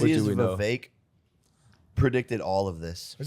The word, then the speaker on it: Vivek: Vivek predicted all of this Is that how you say his name? to a T. Yeah. Vivek? Vivek rhymes with cake.